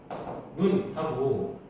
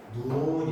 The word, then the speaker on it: 눈: 장음은 길게 얘기해야 되는 거. 단음은 짧게 말하는 거. 다른 자 이런 거 한번 예를 들어 보자. 눈하고 여기 옆에 점 두 개 박혀 있는 건 장음이란 뜻이에요. 우리가 얘를 발음할 때 눈 이렇게 발음된다는 거야. 기. 그리고 장음 표시가 없는 건 다음이라는 거야. 짧게 발음하는 거.